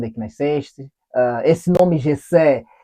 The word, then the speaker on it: Jessé: todo mundo conhece e o meu nome se escreve j e ss é então tem um acento no e no primeiro no último aí você fala Jessé e a cidade de